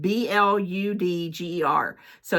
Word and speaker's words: bludgers: It's got, yes, it's bludgers. B-L-U-D-G-E-R. So it's got a quaffle.